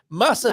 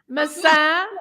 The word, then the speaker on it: maçã: And when I first saw this, I wanted it to rhyme. And I'm thinking that's a brilliant catchphrase. Massa de Alcobaça, and it's not, is it? Massa de Alcobaça with pasta. Maçã de Alcobaça. Massa de Alcobaça is pasta of Alcobaça.